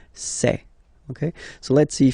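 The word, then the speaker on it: ces: then for the plural form it will be say Okay so let's see that again s or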